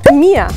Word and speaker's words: mir: Mia, la R al final como una A. Mia.